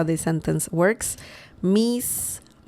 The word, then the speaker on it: mis: Miss. The pronunciation of this word is very similar to the English word miss, M-I-S-S.